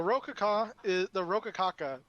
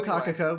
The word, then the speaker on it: Locacaca: The Rokakaka. I don't know how many syllables it is. Rokakaka. Anyway, Locacacaka. We've been saying it with an R this whole time.